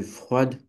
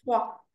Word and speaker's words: froid: euh te protéger de froide de froid ouais froid froid tu prononces pas le D à la fin tu dis pas froide sauf quand tu veux